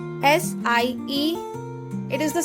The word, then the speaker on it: Sie: will use the word sie. S-I-E. It is the spelling of that word, sie. So it is pronounced like the English word sie, with a soft Z sound like in zebra.